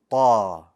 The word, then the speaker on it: ط: Ta. Ta. One more time. Ta. Very good. To begin, the letter Ta is one of the bold letters.